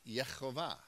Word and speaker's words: Yehovah: of YH VH and the pronunciation would be yehovah so in that Psalm